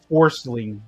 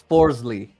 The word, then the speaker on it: Forsling: I can't believe that dude's actually named is Forcing. Like, what the heck? It's Forsley. Nope. But it's spelled Forsling.